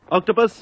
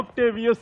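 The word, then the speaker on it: Octavius: ஆக்டோபஸ், நீங்க இதை ஸ்டாப் பண்ணி ஆகணும். ஆக்டேவியஸ் என்று சரியாக உச்சரிக்கவும். ஓகே கோச், கதை என் கூட கொஞ்சம் வா.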